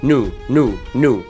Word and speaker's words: new: لاحظ الجديد مش بنطقها نيو، بنطقها ازاي؟ نو زي الفيديو ده.